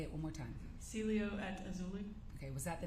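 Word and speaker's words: Cielo Azul: the Celia how do you say it again Celio at auli say it one more time Celio at auli okay was that the name of the apartment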